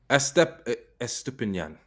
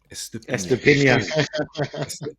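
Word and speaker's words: Estupiñán: Estupinian. Estepinian. Estupinian or Estupinian. Any way you want to say it. Yeah. Accent on the end. Depends where you're from.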